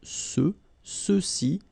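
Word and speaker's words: ceux: Remember final X is not pronounced. So you get the sound sus.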